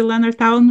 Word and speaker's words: Leonardtown: Did I pronounce the Leonardtown right?